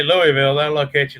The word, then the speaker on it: Louisville: Well, we pronounce when we talk about the farm machinery show here, we say Louisville, but back there in Kentucky, and you were from close to there. There they call it Louisville.